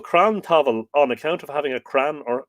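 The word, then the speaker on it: crann tabhaill: Crown Pavel on account now he's a definitely using the lenition so it's definitely V pronounced V in this case uh as this was called cram Tavon on account of having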